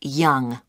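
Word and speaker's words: Yonge: That's spelled Y-O-N-G-E. That's Young.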